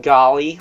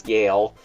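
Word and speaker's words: Galle: That said, we also have Lieutenant Gale, not Golly. I thought his name was Golly because it's spelled Golly, but it's not. It's Gale.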